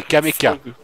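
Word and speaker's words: Kamenka: Ah, c'est Kameka. C'est Kameka, c'est pas Kamea, mais bon.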